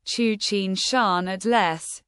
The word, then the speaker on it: Tsuchinshan-ATLAS: Comet Tsuchinshan-ATLAS, pronounced Choo-cheen-shahn At-less, is near naked eye visibility and easily picked up by long exposure cameras.